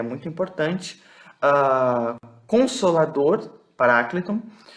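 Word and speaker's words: παράκλητον: Consolador, parácleton. Alguns pronunciam como paracleto, né? Mas, assim, o acento ele está aqui nesse A, mas é só questão de pronúncia mesmo, mas tá bom.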